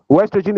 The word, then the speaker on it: oestrogen: Ostrogen is spelled O E S T R O G E N. Orogen. Some some people pronounce it as estrogen but it's still the same thing. Sometimes the O is silent.